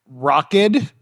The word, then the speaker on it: Rokid: So, Rockid, that's spelled R-O-K-I-D.